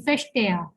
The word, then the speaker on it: verstehe: Here it is starting with V, but we know that the V has a sound of F in German, so we'll be saying verstehe.